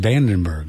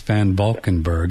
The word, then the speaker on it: van Valkenberg: just want to mention I'm sorry I mispronounced Nikki's name it's venberg uh van venberg Nikki van venberg I said Vandenberg I was thinking of the Air Force Base but it's it's van valkenberg and and her book